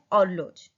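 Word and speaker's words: horloge: Wall clock को बोलते हैं ऑर्लोज, एच तो साइलेंट है, और लॉज और ई भी साइलेंट होता है, तो युन ऑर्लोज।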